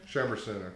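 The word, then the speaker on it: Chambourcin: Well, I have Cab Franc, Merlot, Chamborin. Is that how you say it? Chamberson.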